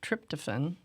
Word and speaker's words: tryptophan: be good and one of them is the tryptophen.